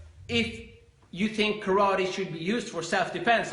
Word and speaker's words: karate: you should first practice karate as it's pronounced in Japanese or karate as we say in English and then you should